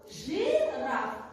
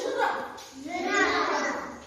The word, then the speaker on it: жираф: Вот, например, в слове жираф, да? Пишется и, а слышится и. Скажите жираф.